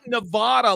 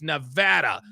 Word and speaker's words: Nevada: have in their car say it's not Nevada like you said Sad Panda it's Nevada Nevada straight this guy I